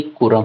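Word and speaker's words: Kuram: ये हमें मिलती है कुरम in copper plate inscription. यहाँ पे स्पेलिंग मिस्टेक हो गई है, ये कुरम है, करम नहीं, कुरम। ओके, और किस बैटल में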